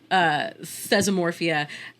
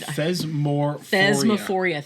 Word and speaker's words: Thesmophoria: Sometimes Thesmorphia was included. Thesmophoria, thank you.